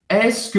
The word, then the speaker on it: est-ce que: Então, o que é esse ESC aqui, que a gente pronuncia como se fosse um ESK, tá? É essa estrutura toda, mas a gente pronuncia ESC.